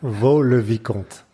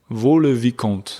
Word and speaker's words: Vaux-le-Vicomte: So firstly, let's start with pronunciation. Yeah, Vaux-Le-Vicomte. Vaux-Le-Vicomte.